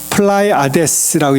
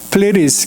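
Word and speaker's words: Pleiades: 이게 영어로 보시면은 우리나라 말로 플라이아데스라고 얘기하는데 그냥 영어로는 플레리스 그렇게 얘기합니다. 이 D를 이렇게 좀 게으르게 반영해서 그냥 그 가운데 있는 I를 갖다 E 발음해서 플레리스 이렇게 발음을 해요.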